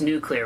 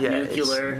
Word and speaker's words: nuclear: And it's nuclear honeymoon and it's pronounced nuclear, right? Not nuclear. We're not George W. Bushing it.